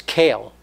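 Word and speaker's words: Kel: Now, one of God's special names is Kale. I'm saying it spelled Aleph Lamed, but we pronounce it with a Kuf, again, so as not to use his name in vain.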